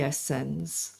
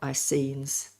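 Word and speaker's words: Essenes: Beginning with the Essen or Esenes, different pronunciations, a Jewish sect during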